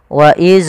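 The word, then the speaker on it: وإذ: Contoh, waidz najjaina. Waidz ini memantul. Harusnya tidak boleh mantul. Bagaimana supaya tidak memantul? Adalah ujung lidah kita menempel dengan gigi sari atas. Waidz waidz.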